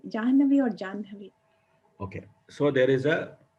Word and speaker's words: Jahnavi: So if you analyze, Janhavi is easier to pronounce or Jahnavi is easier to pronounce.